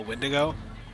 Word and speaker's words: Wendigo: Is this a Wendigo? A Wendigo? Sure. Yeah, that's how it's pronounced.